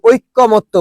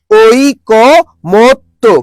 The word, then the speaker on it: ঐকমত্য: আমরা কিন্তু এটা বারবার বলি, নিজেরাই ভুল করি, ঐক্যমত্য বলি, কিন্তু শব্দটা ঐক্যমত্য না। শব্দটা কি বলতো, শব্দ হচ্ছে ওই, তারপর কি বলতো ক, তারপর কি বলতো মত্ত। তাহলে কি বলতো, ঐকমত্য। কি হবে বলতো, ঐকমত্য।